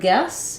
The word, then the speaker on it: guess: good as mine uh the word guess even though it's spelled with letters UE e it just has the F vowel your guess is as